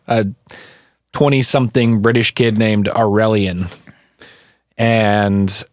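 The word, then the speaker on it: Aurelien: twenty-something British kid named aurelion and I spell that by the way it's a you are e li e n cool like Maura and alien but a sort of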